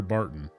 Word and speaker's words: Barton: Ah, you're Barton. Your name rhymes with carton of cigarettes.